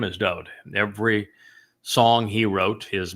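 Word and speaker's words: דוד: And I use Dode David because his name is Dode. Every song he wrote, his Mizmor, his Psalms, in his own hand, his name is spelled Daleth Wah Daleth.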